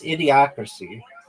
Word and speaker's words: Idiocracy: That's not even How do you pronounce it? It's Idiocracy.